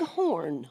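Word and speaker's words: Horne: So this is Horn with us here today on the Blue Plate Special. Add an E on horn, H-O-R-N-E, when you're Googling out there. You know, it's silent. The E is silent.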